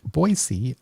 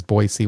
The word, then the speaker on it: Boise: I'm here with Angela from, I've learned to pronounce the city right, Boise, Idaho.